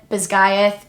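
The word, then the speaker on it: Basgiath: is takes place at I'm going to call it bayth because that's how it's pronounced in the audio book I don't necessarily agree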